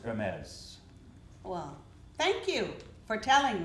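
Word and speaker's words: Hermès: to pronounce it but it's a ripoff of her read oh that's unfortunate and it's pronounced her meds well thank you for telling me how to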